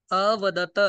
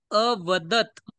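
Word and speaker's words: अवदत्: बघ आता बघ थांब अवदत इथे त पूर्ण आहे की हलंत आहे हलंत मग त्याचा उच्चारण सुद्धा हलंत करायचं अ पठत प्रमाणे अवदत अवदत जर म्हटलं इथ बघा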